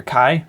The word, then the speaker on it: Kai: gerda saves k or kai okay okay one of the dubs calls him k yeah because his name is k-a-y but the original russian is pronouncing it kai so we're going with kai here yeah uh anyways uh